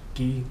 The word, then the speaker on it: ghee: Also, a tip with those, with the vegetables, if you consume them with grass-fed ghee, I think that's how you pronounce that stuff, ghee, G-H-E-E, the fat source, it's like butter.